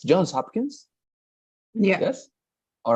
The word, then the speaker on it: Johns Hopkins: with N, with S, Johns Hopkins. Yeah. Yes. All right, That's the Johns thing. Hopkins. Hmm. All right. So yeah, Jones so in X. Johns Hopkins.